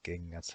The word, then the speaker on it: kengät: When G is paired up with an N, it becomes a soft G. For example, in the words kengät and onget, it's a soft G.